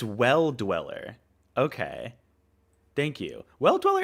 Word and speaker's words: Well Dweller: This game, I still don't know how to pronounce that. Oh, that's a D. It's Well Dweller.